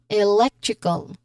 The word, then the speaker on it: electrical: So we say it as electrical again electrical or we focus on leg with stress on that particular syllable. It happens to be the second syllable.